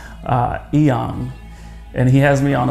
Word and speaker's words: Inyang: Bell's Power Project podcast, Nsima Inyang, or Inyang, as he would tell me to pronounce it correctly, Inyang.